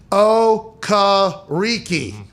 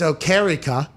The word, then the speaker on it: Okereke: a card that said, Okariki. Okariki, because now that is not how he pronounces his name. The whole world has been pronouncing his name wrong. It's Okarika, I guess, or Okarika.